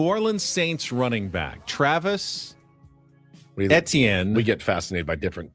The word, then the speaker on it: Etienne: But obviously, it's more of a Southern pronunciation. Travis Etienne Jr. Yeah. In the north, it's Etienne. But yeah, in the south, it's Etienne.